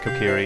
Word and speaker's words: Kokiri: I always pronounced it as Kokiri when I was first playing this game, but I think you know, hearing it said aloud by the community, I believe it Kokiri is the accepted pronunciation.